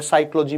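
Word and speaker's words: psychology: में H silent है साइकोलॉजी में पी साइलेंट है इस तरह से ये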